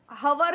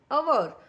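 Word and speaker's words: hour: सो यहां पे आवर में एस से अगर स्टार्टिंग हो रही हो लेकिन आवर में एच इज अ साइलेंट और हम और हवर नहीं बोलते हम बोलते हैं अवर।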